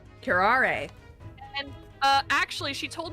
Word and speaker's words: curare: we did last week and apparently we were pronouncing curaire entirely wrong it's pronounced curare karare and uh actually she told me of two